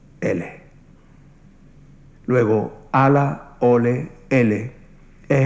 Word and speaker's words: Allah: árabe de Dios, de Allah. En el árabe andalusí, la A se pronunciaba como una E o como una I, eso se llama imela. Así que no digan Allah, digan Ele.